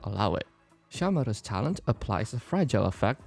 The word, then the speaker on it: Shamare: Now the way I pronounce her name is not Shamare, not Shamare, nor Sameru. That's a different thing. Shamare with a very short E.